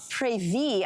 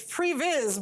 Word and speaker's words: previs: so walk us through your uh previe I believe is how it's called unless I'm saying it wrong I like the way we're going to change it it's previs but that way more exciting